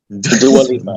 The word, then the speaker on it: Dua Lipa: Dua Lipa, yeah.